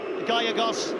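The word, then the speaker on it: Gallegos: pass there by gagos must apologize to the Chilean Felipe gagos for mispronouncing his name in the first couple of matches gagos it is Alex bson is being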